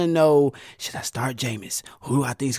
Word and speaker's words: Jameis: We're talking about famous Jameis, rhyme with famous Jameis over Christian McCaffrey and the Carolina Panthers, who I think will have the higher points.